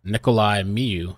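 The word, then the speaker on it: Nikolay Miu: the guy on the stand right now ni Nikolai Miu that's how you say it and M went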